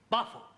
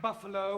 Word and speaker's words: buffalo: Buffalo teril confused yeah words that U endino like Buffalo or radio or vertigo you pronounce the O but when there is no o you don't add one understand yes I give